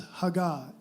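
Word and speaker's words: הגה: And that word meditate, in Hebrew it's a word, I may mispronounce this, but I believe it's hagah.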